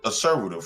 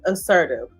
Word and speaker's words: assertive: All you have to you can be very assert asservative, right? You can let somebody. Okay, let me correct you. Assertive. Yeah, assertive. No, assertive. You add you added an extra syllable.